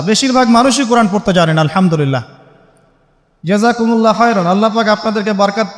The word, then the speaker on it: আলহামদুলিল্লাহ: আলহামদুলিল্লাহ। এই হা এর মাখরাজ কোথায়? হা এর মাখরাজ কোথায় বলেন একজন? কণ্ঠনালীর মাঝখান থেকে। এখান থেকে আপনি উচ্চারণ করছেন আলহামদুলিল্লাহি রাব্বিল আলামিন।